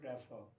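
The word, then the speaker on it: prefer: तो इसको साउंड आएगा प्रीफर. इसका मीनिंग होता है किसी चीज़ को पहल देना. आमतौर पर इसको सब लोग बोलते हैं प्रेफर, चूँकि रॉन्ग है. The right pronunciation is प्रीफर and this is shallow.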